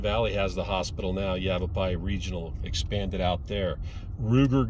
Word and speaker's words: Yavapai: the sun Yavapai County it's pronounced Yavapai not yavapi Yavapai County people of